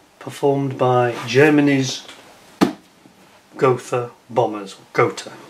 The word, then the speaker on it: Gotha: Gotha bombers is the correct pronunciation. Get that one right.